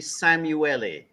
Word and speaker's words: Szamuely: into the topic that you you got my pronunciation more or less right but it's actually samueli Samu Dr samueli would you rather us be calling you DR